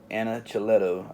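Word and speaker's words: Anacleto: j and a chiletto j anna chiletto i believe is how you say the name yeah a-n-a-c-l-e-t-o yeah that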